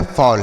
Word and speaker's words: fall: Double L से लॉ पढ़ेंगे। अगर डबल एल रहता है यानी डबल अक्षर कोई भी लिखा रहे तो एक अक्षर को हम साइलेंट कर देते हैं, एक से लिखते हैं, ठीक है। तो यहाँ पे साइलेंट होगा, एक यल साइलेंट रहेगा, एक से लिखेंगे।